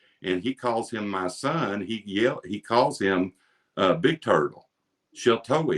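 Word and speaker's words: Sheltowee: Shiltoe is how you say it in Shawnee.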